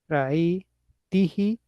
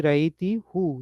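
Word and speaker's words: رأيتِه: Ra'aytahu and ra'ayti, it should be actually ra'ayti who, you saw him, you female saw him, but because of it's easier to pronounce ra'aytihi, who became he.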